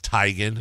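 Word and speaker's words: Teigen: Well, I wonder why people either wait so long or and because we've talked about before like Chrissy Tegan came out and said her name was Tyigan.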